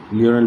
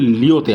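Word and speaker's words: Lyon: আচ্ছা, ইন্টারপোলটা মনে রাখবে এটা ফ্রান্সের লিওতে আছে, ঠিক আছে। ফ্রান্সের লিওন, অ্যাকচুয়ালি আমরা বলি লিওন বলি, মানে ইংলিশে উচ্চারণ করে লিওন, বাংলায় লিও।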